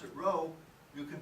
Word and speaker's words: rho: sloppy p so if you don't like to pronounce it row you can pronounce it sloppy p row is definitely more professional so if you're talking